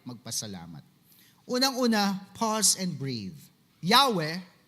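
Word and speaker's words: Yahweh: Yahwe in its original pronunciation is actually like breathing. Parang ganon in the original Hebrew language.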